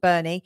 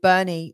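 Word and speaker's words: Boerne: that there are like there is a place in Texas called Bernie it's spelled completely differently b o e r n e I believe um so and so again even though it's not spelled the same way if it's got the same sound I still think that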